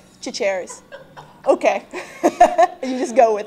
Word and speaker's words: Chachere's: I can't tell you all the time how people are like, oh yeah, Tony Charchere's. I'm like, no, Tony Chachere's. Like, no, Chachere's.